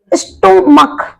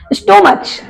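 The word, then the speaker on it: stomach: क्यूलर बन जाता है जैसे कि स्टमक क्या पढ़ते इसको स्टमच स्टमच नहीं पढ़ते हैं उसको हम पढ़ते हैं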